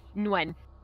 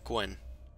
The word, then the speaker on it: Nguyen: Also, it's Nguyen. Let's add an H at the end. How you pronounce that surname. What? Nguyen. Nguyen? Mm-hmm. Well, I heard Gwen. Nope. Well, either way. I just listened to a Vietnamese man just say it to me.